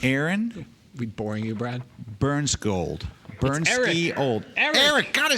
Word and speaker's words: Bernskiold: Bernskiold. Bernskiold. Eric. God, I said Aaron again. And you actually pronounced his last name wrong. I got both names wrong. Eric Bernskiold.